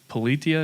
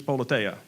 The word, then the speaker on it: Politeia: So a question about, is Politia, is that the right way to say it? So the Greek folks in our community have told me it's Politeia. So that's what I've been going with. Okay, Politia.